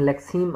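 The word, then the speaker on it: lexeme: Pronounce करेंगे, अभी में प्रोनाउंस एट लेग्जीम या लेक्सीम, इसको हम लेक्सीम आमतौर पर प्रोनाउंस करते हैं, ठीक है।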